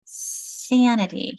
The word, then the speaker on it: sanity: I'm changing my my vowel because I'm dropping my E and now adding the i t y, which will make my vowel become a short vowel. Exactly. I'm saying and sanity here.